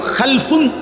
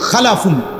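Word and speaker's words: خَلْف: আরবিতে একটা হল খালফুন আরেকটা হল খালাফুন। একই শব্দ শুধু উচ্চারণের মধ্যে একটু ভিন্নতা। মাঝখানে একটা লাম আছে। এই লামটার মধ্যে যদি সাকিন হয় তাইলে হল খালফুন। আর যদি লামের মধ্যে জবর হয় তাহলে হল খালাফুন।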